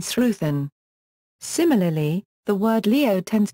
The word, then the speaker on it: sruthán: There is also a tendency to pronounce the consonant th as an f in certain words such as wathu and sruthan.